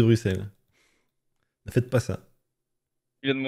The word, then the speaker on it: Bruxelles: storage ple pas non ne prononce pas le X de Bruxelles ne faites pas ça